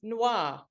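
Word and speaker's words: NSWWAA: And New South Wales has just joined us with the New South Wales Women's Action Alliance, which we pronounce as NOIR, with a silent S, obviously, but that's NOIR, New South Wales Women's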